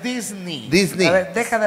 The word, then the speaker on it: Disney: La pronunciación correcta es Disney.